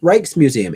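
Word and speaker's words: Rijksmuseum: Reich's Museum is Reich's Museum.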